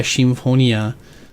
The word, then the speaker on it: Symphonia: Uh Mega Symphonia or Mega Shimonia, uh if you want to use the Katakana pronunciation there.